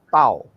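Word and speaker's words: ת: Bahasa Inggrisnya memang penyebutannya adalah Taf. Bahasa Indonesia itu Tau.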